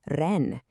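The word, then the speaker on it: 人: The character is pronounced ren, and it means just what you'd think, person.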